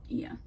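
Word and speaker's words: Oia: Like, everybody talks about Santorini, and like I think it's called Ia, spelled like O-A-I, but it's pronounced Ia, I believe.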